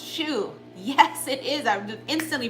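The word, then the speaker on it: choux: that's what it's called it's called shoe you're right honey thank you c-h-o-u-x it's pronounced shoe yes it is I've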